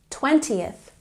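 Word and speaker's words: twentieth: 20th. So remember, the teens have the emphasis on the second syllable, and the tens have the emphasis on the first syllable.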